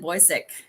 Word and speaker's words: Bocyck: further Ado I bring to you author Roxanne boisik all right yeah can you please share your